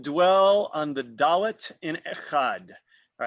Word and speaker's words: echad: The chet in echad should not be pronounced hurriedly, for then the word would sound ichad.